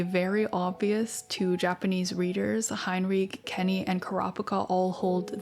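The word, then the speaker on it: Hinrigh: And that would be something along the lines of Hinrich with a guttural r.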